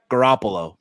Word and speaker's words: Garoppolo: his mind he thought he was Jimmy uh Garoppolo did I say it right yes he thought